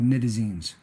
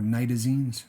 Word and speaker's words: nitazenes: These compounds are called nitazenes, or nitazenes, depending on who you hear pronouncing it.